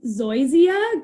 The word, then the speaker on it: zoysia: this word um linda says she has mostly zoysia grass you pronounced it perfectly i did it great awesome